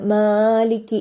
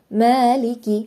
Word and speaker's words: مالك: വരുന്ന ഒരു മിസ്റ്റേക്ക് ആണ് മാലിക്കി എന്ന് പറഞ്ഞിട്ട് കുറച്ചധികം നീട്ടി ഓതൽ അത് തെറ്റാണ് രണ്ട് ഹർക്കത്ത് മാത്രം നമ്മൾ നീട്ടുക അതായത് മാലിക്കി അത്രേയുള്ളൂ മാലിക്കി യൗമിദ്ദീൻ മാലിക്കി യൗമിദ്ദീൻ അതിലേറെ ആയിട്ട് മാനെ അവിടെ നീട്ടരുത് പിന്നെ യൗമിദ്ദീൻ അക്ഷരങ്ങൾ അതിന്റേതായിട്ടുള്ള